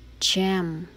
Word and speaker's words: gem: the word gem okay the letter g here has a different sound from the rest okay it's sound is g okay that's why you read it jam jam jam okay the rest are